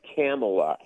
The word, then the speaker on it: Kamala: Yeah, it's Kamala. Make sure you pronounce that right.